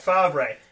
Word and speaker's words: Favre: Well, this, folks, is how you say it. There you go. There's Brett Favre, F-A-R-V-E, right? It's the Italian. That's the thing with like Italian stuff. You don't write it how it's spelled, right?